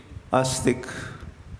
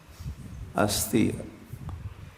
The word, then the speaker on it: अस्ति: मानता है वह है अस्तिक समझते अस्तिक अस्ति को अस्ति मतलब है संस्कृत में अस्ति मतलब है अस्थि अस्थि नहीं अस्थि मतलब हड्डी होती है इसलिए प्रोनाउंस उच्चारण थोड़ा सोच विचार के करना चाहिए तो अस्ति अस्ति का